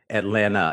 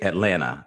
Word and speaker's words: Atlanta: We say Atlanta. If you're from Atlanta, you say Atlanta. Like there that second T isn't there. It's just Atlanta.